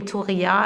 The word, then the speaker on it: Touria: But I had a French mother, so she didn't know how to pronounce this in Arabic, so it became Touria, and this is how at home I'm called, Oh, wow.